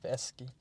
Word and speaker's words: Dostoevsky: doeski do do do I saw a pronunciation tip last night and it was um say do say toy do toyi and then ESI ESI dooi doeski that's right anyways I've really enjoyed